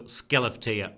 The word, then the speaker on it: Skellefteå: doggy the biggest celebrity is small village next to skellefteå that's exactly how to pronounce in Sweden has ever produced in the